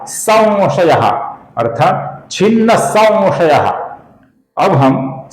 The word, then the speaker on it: संशयः: और फिर अंतिम नाम है छिन्न संशयः, जिसके अनुस्वार का, स के ऊपर के अनुस्वार का हम अपूर्ण व ऐसा उच्चारण करते हैं। संशयः या संशयः, ये गलत उच्चारण है। इसका सही उच्चारण है संशयः, संशयः, अर्थात छिन्न संशयः।